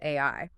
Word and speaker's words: 愛: If you look at it through the Japanese linguistic court, and remember, he cross-references multiple languages, the kanji symbol for love is pronounced AI.